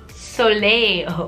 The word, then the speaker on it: Soleil: that and freaking stupid I'm really searching how you pronounce so late cuz I don't want to sound stupid in front of you Soleil okay so I was right okay let's continue the